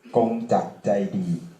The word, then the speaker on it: Kongjak Jaidee: My name is Kongjak Jaidee, in Thai pronounced Kongjak Jaidee, and I'm a member of World Party Thailand.